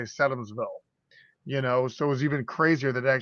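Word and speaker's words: Sedamsville: What's interesting though is I always said it wrong. Like he says it Sedumsville. That's not how the locals say it. They say Sedumsville.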